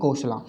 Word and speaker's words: कोसला: अब हम देख लेते हैं कोसला, ठीक है। कोसला जो किंगडम, देखिए इसको कोसला भी बोल सकते हैं, कोसला जो भी आप बोलना चाहो, क्योंकि इसकी एक स्पेलिंग KOSALA ये भी है, ठीक है।